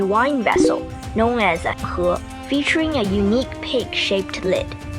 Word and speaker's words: He: Wait! Her! Sounds like her! Correct, and coincidentally, that's also how you say my name, He.